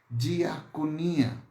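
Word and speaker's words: diakonia: a palavra Ministério a sua raíz vem de uma palavra grega esse que ser feliz e se pronunciasse dia coninha então a palavra diaconia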